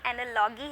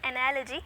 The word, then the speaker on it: analogy: ना ये एनालॉजी है ना ये एनालॉगी है, इट्स एनालॉजी.